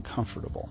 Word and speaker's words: comfortable: And you know, there's nothing wrong with being comfortable, right? At all. Oh, I said it right. Comfortable. Got all the syllables in there.